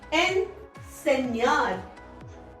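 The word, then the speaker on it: enseñar: यहाँ पे जो निकलेगा साउंड इस एन का एन सेन्यार, एन सेन्यार, ये जो आ गया न्यार बन जाता है एनसेन्यार।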